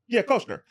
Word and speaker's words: Koechner: Koechner. David Koechner. He's champ. Yeah. Ketcher?